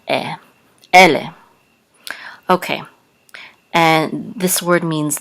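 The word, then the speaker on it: אֵלֶּה: So the accent is on ele.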